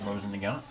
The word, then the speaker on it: Mosin Nagant: We're doing the, hey, what's the correct pronunciation for this, Keith? Mosin Nagant.